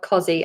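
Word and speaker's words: cossie: I I'm not sure on the spelling of Cozy. I think it's like that, but please feel free to correct me. It It's definitely pronounced as a zed, but I think it's spelled with an S, and I'm sure it's a double S.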